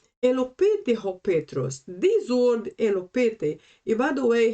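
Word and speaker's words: ἐλυπήθη: This word elopete, and by the way, here we have two pronunciations. I am using the old pronunciation, which is elopete, but the modern pronunciation for this word is elipite.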